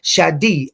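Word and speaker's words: Shaddai: so in the video they tell you that it's pronounced Shadi not just a but it's pronounced like with an e on the end so that's the same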